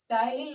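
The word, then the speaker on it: टायलिन: ये देखो टाइलिन पी से लिखा है ये तो, लेकिन इसका प्रोनाउंस टी से ही होगा, टाइलिन ही होगा। पी से लिखा जाता है पर प्रोनाउंस हम टी से करेंगे इसका।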